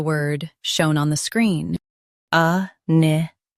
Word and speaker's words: iniquity: INIQUITY. Both US and UK have the same pronunciation of this word. Stress ni. Keep qu soft, then t clear.